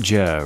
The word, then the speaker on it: Jur: It is pronounced Jur, right? Yes, that's absolutely correct.